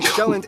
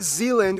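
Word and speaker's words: Sjælland: are inhabited with the largest island being shown not Zealand which is not to be confused with Dutch yes that's what my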